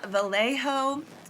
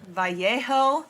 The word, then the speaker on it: Vallejo: So this pair was from Vallejo, or maybe it's Vallejo, because obviously these Spanish names have tripped me up before. And I think technically it should be pronounced Vallejo, but Vallejo is how I've been hearing it.